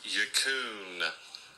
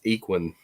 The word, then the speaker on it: Huckin: It's pronounced Huckin. My source is an Asian person. Huckin. My source is an Asian person. Well, point the fingers at Will Schuster because he said it was Equin.